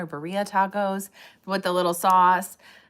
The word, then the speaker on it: birria: The birria or burrilla tacos with the little sauce.